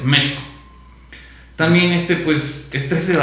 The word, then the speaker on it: México: representa en sí México, que es como se debe de pronunciar precisamente, México. No México, es México.